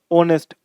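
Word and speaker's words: honest: नहीं हो रही है इनकी जो प्रोनंसिएशन है एच से नहीं हो रही है एच से आ रहा है लेकिन साउंड क्या है ओनर ओ का आर ओ का नरे बल ओ का ऑनेस्ट ओ का यानी हमें यह समझना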